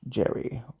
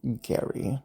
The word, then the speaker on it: Gerry: the individual known as Elbridge Gerry, or Gary, depending on how you particularly pronounce it, it was utilized as